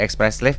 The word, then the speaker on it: Espresslave: Ini teman-teman dari Express Slave. Boleh bacanya apa yang benar nih?